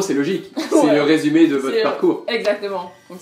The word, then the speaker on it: résumé: Résumé. Donc résumé. Résumé, ça veut dire CV. Donc nous, on utilise CV pour un CV. Ouais. Et en gros, c'est logique. C'est Ouais. le résumé de votre C'est- parcours.